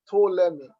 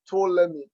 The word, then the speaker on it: Ptolemy: While in 284 BC, Ptolemy, that word is pronounced Ptolemy, but pronouncing all these ancient words could be actually fun and difficult at times.